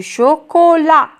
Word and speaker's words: chocolat: muette du chocolat du chocolat la lettre finale muette ici c'est la lettre t qui ne se prononcent pas un retard un retard